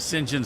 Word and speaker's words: St John: guys named singen SMI so St John Smith but they pronounced it singen SM well granted they probably